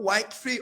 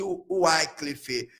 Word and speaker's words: Wycliffe: Foi o John Wycliffe, ou Wycliffe, alguns pronunciam assim, e o John Hus.